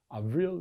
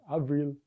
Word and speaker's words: avril: Avril is May, Avril.